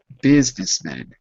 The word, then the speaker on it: businessmen: We say it like an I. So not businessmen, but businessmen. Businessmen.